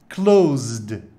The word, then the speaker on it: close: então agora ok pessoal cuidado que se tem um som de z close close as janelas estão